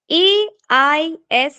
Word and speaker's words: aisle: AISLE, that is aisle. Okay, aisle. A is silent here, like tsunami, the spelling of tsunami. It's aisle.